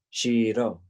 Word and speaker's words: Shiro: i returned that was the way i said his name shiro with a slight pause between the syllables i meant it to